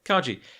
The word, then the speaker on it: Kaji: I'm going to get his name wrong again. Kaji? Yeah. Kaji.